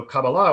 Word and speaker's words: Kabbalah: it again please yeah kabbalah yeah in hebrew uh uh typically the the stress is put on the last syllable um so kabala would be a would